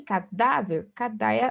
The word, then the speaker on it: cadáver: Só que cadáver, o da é a sílaba mais forte, a sílaba tônica, então a paroxítona terminada em R.